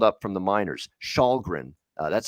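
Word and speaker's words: Källgren: kid that they called up from the miners shahgren that's how you pronounce his name he came into the game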